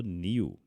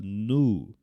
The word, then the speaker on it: new: Eu sei que a vida inteira você falou new, tá? Mas em inglês americano a gente fala nu.